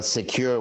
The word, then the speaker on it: Sekur: Well, Secure, which is spelled SEKUR, is our email and messaging application.